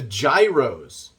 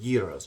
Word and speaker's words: gyros: definitely will have Souvlaki the gyros gyros I think is how you would pronounce it Euros we I call them Gyros over here but Gyros